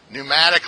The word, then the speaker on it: pneumatic: out of the aircraft pneumatic lines very good let's see if I can spell pneumatic PU there we go that's all the P is silent but if I say